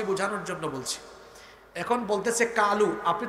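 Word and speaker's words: قُلْ: তাহলে এই যে আছে এটা কোরআনের আয়াত এটা কলু সে বলতেছে কালু তারপর শব্দ হলো হাজা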